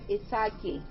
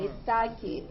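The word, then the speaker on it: Ιθάκη: It's a Greek island, Oh, and it's called Ithaki. Oh. Ithaki with a K-I in the end.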